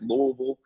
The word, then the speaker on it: Louisville: So I'm from Louisville, just so you know. You got to swallow your tongue when you say it, Louisville.